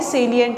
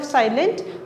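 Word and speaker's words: salient: तो इट इज़ जो आप प्रोनाउंस अगर प्रोनाउंसिएशन की बात करें तो वो क्या है, सेलिएंट है। इंस्टेड ऑफ साइलेंट उसको हम प्रोनाउंस कैसे करते हैं, सेलिएंट।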